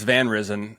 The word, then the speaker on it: Van Risen: I think it's Van Risen, and I'm choosing to pronounce it that way because that would make Nan Dutch.